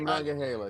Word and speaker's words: Monongahela: I think you said it right that time. Yeah, the Monongahela. There we go. That's better.